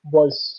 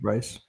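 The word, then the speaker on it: Brice: His name is Patrick Weiss. So I don't Yeah. know if I'm pronouncing that right, but I think yeah. Yeah, it's Yeah. Uh, close enough. yeah, Yeah, Patrick Bryce.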